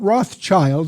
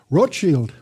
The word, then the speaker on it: Rothschild: Not Rothschild, that's mispronounced by most Americans. Rothschild, that's the German word for red shield.